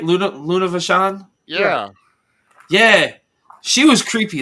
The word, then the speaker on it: Luna Vachon: Luna Vachon.